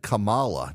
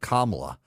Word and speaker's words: Kamala: is very important uh you said Kamala not kamla a and it is my understanding from the Democrats that that pronunciation is racist um are you a racist for calling her Kamala instead of kamla well I'm black so